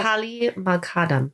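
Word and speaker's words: Fathali Moghaddam: I feel badly I can't pronounce this person's name. So, Fatali Moghadam.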